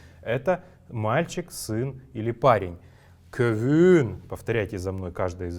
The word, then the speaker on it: көвүн: Итак, первое слово «көвүн». «Көвүн» произносится оно, как я уже говорил, если гласная, согласная и снова гласная стоят у нас, то последующая гласная, вторая гласная будет протягиваться чуть дольше.